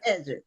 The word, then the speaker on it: Edrick: So, uh welcome to the show Edric, right? Yeah, Edric. Okay, Cedric. I have to think of Cedric and then that'll put me on the path to the correct pronunciation.